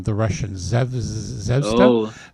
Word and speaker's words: Zvezda: This one I don't remember if we talked about from, I can never pronounce the name, the Russian Zvezda. Oh, Zvezda.